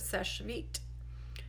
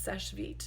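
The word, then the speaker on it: Seche Vite: hope that helps what do you think of SES vit and that is how you pronounce it it's SES vit not SES not such or vit or it's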